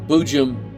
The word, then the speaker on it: boojum: now of course bujim b-o-o-j-u-m is pronounced boo Jim Boo Jim Boo Jim